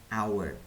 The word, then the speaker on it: hour: An adverb, an hour, 1 jam tuh an hour kan, tulisannya hour tapi bacanya hour, an gitu.